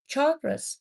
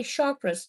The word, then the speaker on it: chakra: It's a 10-minute meditation that heals and takes all the yuckiness out of your chakras. Some people say chakras. It is pronounced chakra, okay?